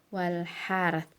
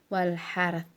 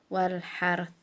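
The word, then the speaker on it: والحرث: Kalau kita berhenti di situ jadi bacanya wal harth, ro-nya sukun, ta-nya juga sukun, jadi bukan wal har tapi wal harth. Nah, terakhirnya di posisi lidah kita di posisi ta gitu ya.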